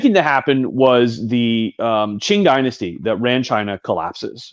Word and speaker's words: Qing: Qing. Qing. Yeah, in Chinese, Q is the English letter Q is rendered as CH.